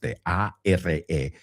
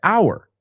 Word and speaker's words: our: Quiero que lo escuches la próxima vez que lo oímos, pero en ningún momento dice our. Ahora, no digo que no se dice our, pero muchas veces lo oirás pronunciado are.